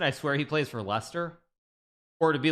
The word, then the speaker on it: Leicester: swear he plays for Lester or to be like an American he plays for lycester right I should I